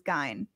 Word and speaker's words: Gein: pronunciation is no i i thought it was guy because i i watched this and they said but anyway um i think let's pronounce it but it's actual pronunciation is gain all right before we